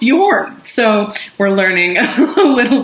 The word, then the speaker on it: Jorn: whole uh episode and jorn uh is apparently pronounced you're so we're learning a